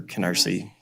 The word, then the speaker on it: Canarsie: It's called I'm going to mispronounce it because I'm unfortunately not a New Yorker, but the Canarsie approach, or Canarsie.